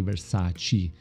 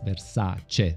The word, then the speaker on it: Versace: My English pronunciation might not be perfect, but as an Italian, please, please, please don't say Versace, it's Versace.